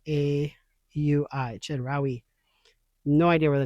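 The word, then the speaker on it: Chedraui: Um it's spelled C H E D R A UI. Chedari.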